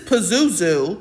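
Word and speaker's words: Pazuzu: This is Pizuzu, which rhymes with labu.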